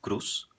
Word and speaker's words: cruz: português essa z s Cruz em espanhol da Espanha seria cruz cruz tudo bem então nós